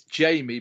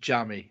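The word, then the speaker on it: Jammie: everyone goes we know it's Jamie but we're calling him Jammy just because that's how it's spelled and that's how the English language Works he's another he's another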